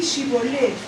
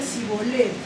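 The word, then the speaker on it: שיבולת: Entonces le decían, ahora pues di Shibolet, y él decía Sibolet, porque no podía pronunciarlo correctamente.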